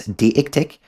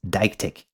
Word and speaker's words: deictic: Now, my intuition tells me to pronounce this word as , but apparently the correct way to say it is .